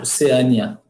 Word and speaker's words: Oceânia: os ele é e eu posso pronunciar assim também ó e oceânia o certo é bom vamos lá